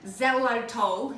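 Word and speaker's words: xylitol: butter that it's a smooth unsalted without the Zelo toll in it so that's the right way to pronounce it but it'll be written below because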